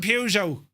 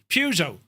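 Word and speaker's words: Peugeot: There's no R in Pujo. Pujo.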